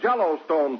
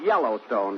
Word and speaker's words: Yellowstone: and Out West we have Jello Stone Park that that's pronounced Yellowstone Don but I can see